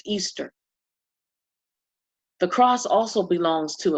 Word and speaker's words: Ishtar: of the goddess Inanna, which is Ishtar, pronounced Easter.